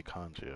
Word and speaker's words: congee: Okay, kanji. Okay, that's how you say it.